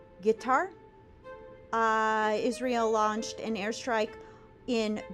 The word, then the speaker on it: Qatar: Israel killed several of Hamas's most senior leaders in Qatar, or pronounced Qatar.